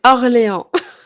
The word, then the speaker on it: Orléans: yeah, we have New Orleans, which we pronounce it wrong and pronounce all the French stuff wrong. C'est Orléans. Orléans.